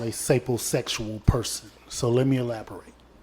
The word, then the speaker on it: sapiosexual: What I described to you guys is called a sapiosexual person. So let me elaborate. So, sapiosexual or sapo? Sapiosexual. How you spell it? S-A-P-I-O? S-A-P-I-O. That's sapiosexual.